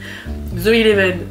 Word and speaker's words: Zoeleven: nom vraiment c'est pénible zoeven je vais le répéter une seule et dernière fois Zoé le chiffre el 11 par rapport à stranger things avec de N parce